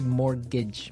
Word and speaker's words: mortgage: I mean, there's this strange mortgage with a T. Yeah, it has a T in it, but you don't pronounce it. You say mortgage.